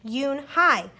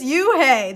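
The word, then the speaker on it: Unhei: corrected her it spelled you and hei it's pronounced Eun Hye uhh it's you hey the boy said like hey you hey what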